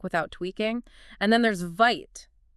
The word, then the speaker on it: Vite: And then there's Vite, pronounced VIT.